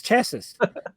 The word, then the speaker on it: chassis: Yeah, the S is silent.